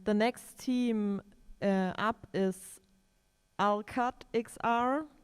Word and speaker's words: Alqatt XR: And the next team up is Alqatt XR. I hope I pronounced it right. Are you there? Yes, you pronounce it correctly.